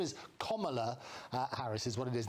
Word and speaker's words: Kamala: including lots of students, to get her name pronounced rightly, and nobody does in the media. Her name is Kamala Harris is what it is.